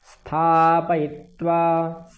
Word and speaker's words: स्थापयित्वा: सेनयोरुभयोर्मध्ये स्थापयित्वा, यहाँ पकार का पूर्ण उच्चारण करना है।